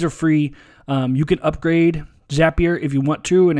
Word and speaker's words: Zapier: people call it zapier I asked the folks there how to pronounce it and it's zapier like happier a good way to